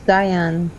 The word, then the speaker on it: Diane: Do you pronounce it Diane or Dion? It's Diane.